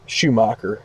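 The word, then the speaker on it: Schumaker: will be the shortstop, Skip Shoemaker will be in left, Schumacher, I believe that's how you say his name, Schumacher.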